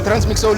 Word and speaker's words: Trancemicsoul: and next to me i struggled with like pronouncing your name right i think is it transmixol or transmit i don't know how do you pronounce your name transmixo so i got it right so you know